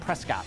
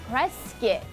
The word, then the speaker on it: Prescott: Okay, looks like Prescott. Right, but they pronounce it Prescott.